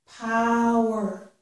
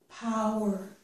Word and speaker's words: power: The stressed syllable here is the first syllable. This is power, power, okay? So we have poor, one syllable, poor, one syllable, power, two syllables, okay?